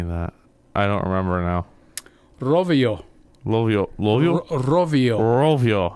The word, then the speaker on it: Rovio: I can't roll my R's. Okay, now guess what happened now? Rovio, if you've been listening to me, the way I pronounced it, you'll know where it's from.